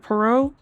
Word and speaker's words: Poirot: Is it Poirot? It is French. The T is silent, right?